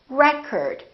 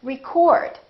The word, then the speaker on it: record: another word this word if it's a noun it's pronounced as record the first syllable is stressed record this OH changes